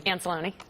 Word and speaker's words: Anzalone: with the polling firm As-Alone List Grove Research, if I'm pronouncing that correctly. Anzalone. Yeah.